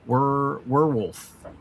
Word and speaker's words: werewolf: Werewolf, and it's pronounced with a W-E-R. Werewolf.